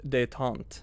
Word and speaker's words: détente: It's pronounced détente.